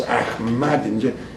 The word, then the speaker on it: Ahmadinejad: Ambassador, sometimes when I think of Ahmadinejad, and I always pronounce him with the mad, and with the stress, Ahmadinejad, he must have been put in there by the Mossad.